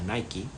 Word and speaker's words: Nike: hecho en uno de sus anuncios favoritos de Nike aunque se pronuncia Nike dice he fallado más de 000 tiros al